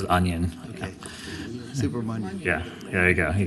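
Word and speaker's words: Subramanyam: Do you want Senator Subramanian Supra? I apologize. I've got such a hard time with your name. It rhymes with onion, so it's Subramaniam. Yeah, rhymes with onion. Okay. Subramanian.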